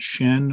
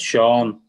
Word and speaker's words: Sean: His name is Sean, not Shen, or is Shen, not Sean? yeah, it's Sean.